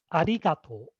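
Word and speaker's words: ありがとう: is a regatta so the correct intonation is arigato arigato saw the high-pitched accent on b and uh evie had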